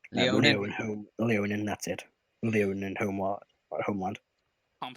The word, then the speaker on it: Leonin: I can never pronounce their names. Leonin. Leonin, that's it.